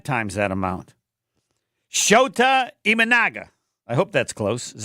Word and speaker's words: Shota Imanaga: Then we'll have Jason Wilde and Tim Van Vorn and Shota Imanaga.